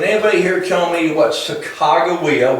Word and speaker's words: Sacagawea: For example, can anybody here tell me what Sacagawea, which is the pronunciation that the Native Americans would prefer that you use nowadays, Sacagawea, what she contributed to the expedition?